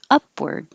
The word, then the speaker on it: upward: the d blindly upward this looks like ar but sounds like er upward antiseptic antiseptic and this